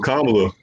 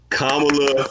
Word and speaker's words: Kamala: the door, open the lane, you know, for Kamala to come through and be the first female president, man.